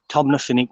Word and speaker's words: Tomnafinnoge: the proper name to it is tom lafinig tom nuffinik woods but yeah tina it's not spelt correctly but that's how you actually pronounce it tina healy tin ahili but yeah